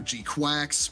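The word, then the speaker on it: GQuuuuuuX: Uh Gcucks, it's spelled GQ. GQ with like six U's GQ. Uux. people call it either G-cucks or Gqu Quacks, like whatever, because that's just easier to say.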